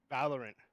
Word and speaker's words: Valorant: Valorant.